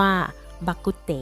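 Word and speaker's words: 肉骨茶: รวม ถึง ประเทศ ไทย คำ ว่า โรค อู้ด ฐา ออก เสียง เป็น ภาษา ฮกเกี้ยน ว่า บัก กุ๊ด เต๋ ตำนาน แต่ จริง ๆ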